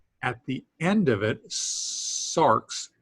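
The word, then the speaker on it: σάρξ: Here's a word that has an X at the end of it, sarx, S-A-R-X, sarx.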